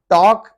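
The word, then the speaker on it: talk: यहाँ पे वॉक, हम जो वॉकिंग करते हैं, वॉक करते हैं, वॉक में एल साइलेंट है। टॉक, बात करते हैं, तो उसमें एल साइलेंट है।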